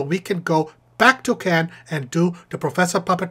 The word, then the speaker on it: Cannes: Not Cannes, it's pronounced Cannes.